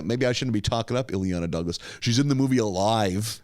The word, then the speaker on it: Ileana Douglas: If I get her name wrong, I'm sorry. It's Elena Douglas. Oh, Ileana Douglas.